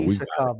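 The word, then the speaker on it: Iskhakov: So Isakov is what she said. It's Isakov. I just Americanized everything.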